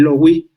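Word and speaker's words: Löwy: Me gustaría saber cómo concilias a Walter Benjamin, también en parte viene ahí, por supuesto, está ahí Michael Lowy, o Leví, como según se le pronuncie, pero me importa mucho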